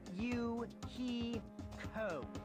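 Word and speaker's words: Hiyoko: My first name is pronounced U he co.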